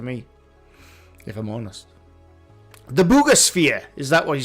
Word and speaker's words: Buga Sphere: The bugosphere. Is that what you say? I did say the bugosphere. It's not pronounced the bugger sphere. I believe it is pronounced the bugosphere.